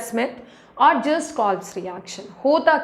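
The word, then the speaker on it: Schmitt: सो वी can call it either call स्मिथ we pronounce it एज स्मिथ, और just calls reaction.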